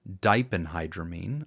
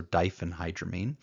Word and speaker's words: diphenhydramine: Now, I pronounce the first one diphenhydramine. I've heard other people make a f sound, so diphenhydramine, but it's just Benadryl.